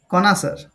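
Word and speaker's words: connoisseur: দেখ এখানে 61 এ আমি কি লিখেছি 61 কনাসার কনাসার এ প্রনান্সিয়েশন কি হবে কনাসার বানানটা একবার দেখে নেবে সিও ডবল এন ও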